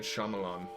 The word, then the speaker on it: Shyamalan: know his name his name is M night Shyamalan that's how you say it I know how